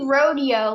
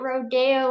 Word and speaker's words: rodeo: a horse yeah but it should be Rodeo like I was talking to my the people running it and I'm like why are they pronouncing it Rodeo like Rodeo Drive are we dressing up